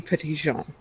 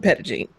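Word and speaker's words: Petit Jean: Uh if you were to pronounce it in French it would be Patision but we everybody here calls it Pedigene.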